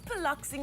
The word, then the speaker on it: Piloxing: do that good morning tell us what is poloxing exactly am i saying it right yes very